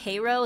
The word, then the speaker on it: Cairo: Cairo, Illinois is pronounced Cairo as opposed to the way that Egyptian cities is pronounced.